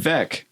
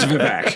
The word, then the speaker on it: Vivek: Vivek. Yeah, there you go. Vivek. I can. Vivek as in cake. Vivek is in cake. Okay. But I say I'd like a piece of cack. Yeah. His name's Vivek.